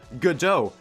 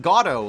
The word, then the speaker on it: Godot: And that's also how you pronounce it. Godot, not Gato, like I say all the time.